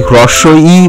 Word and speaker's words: হ্রস্ব ই: তোমরা এই বর্ণটিকে বলবে হ্রস্ব ই। এছাড়া আর অন্য উচ্চারণ যদি কোথাও শোনো, তাহলে বলবে যে না, সেই উচ্চারণটি ভুল এবং এর সঠিক উচ্চারণটি আমি জানি।